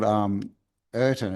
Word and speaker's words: Rtanj: And yeah, it's called Ertan. It's spelled Rtanje pyramid in Serbia.